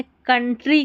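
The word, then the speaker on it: country: यहां पर ओ यू को अ पढ़ा गया है।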